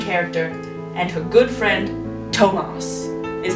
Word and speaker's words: Tomos: is our main character and her good friend thomas is how i've decided to pronounce that yes it's spelled t-o-m-o-s tomas all right random plot generator so aiden our